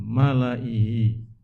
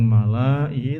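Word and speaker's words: مَلَإِيْهِ: Terus situ ada ee Malaihi. Meskipun lamnya panjang malaai, tapi bacanya kita pendek.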